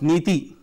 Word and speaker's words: NITI: dissolved the Planning Commission pronounced methi meaning policy in Sanskrit the acronym stands for